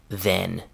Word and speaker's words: then: Now use the e sound in then.